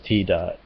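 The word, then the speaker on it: ティーダ: I think they changed it to blonde in his case to more emphasize his connection to the sun, because Tida, as they pronounce it in Japan, is the name of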